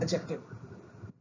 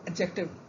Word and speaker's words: adjective: This is adjective. As D is silent over here as it is in judge, dodge. So adjective.